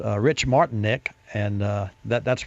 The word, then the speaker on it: Martinek: Center in Detroit and with us it's Rich Martin Nick and uh that that's pronounced correct that was very good Rich martinek uh I want to welcome you to OnStar